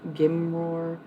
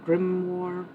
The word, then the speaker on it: grimoire: Like a gimroar. How do you say that word? Grimoire.